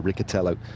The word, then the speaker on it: Riccitello: We're always listening to trying to get the correct pronunciations right. So Riccitello, Mathieu Riccitello it is.